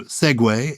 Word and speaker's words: segue: Segue, famously mispronounced, including by me, I have to say. I did once call it segue, mortifyingly on Countdown.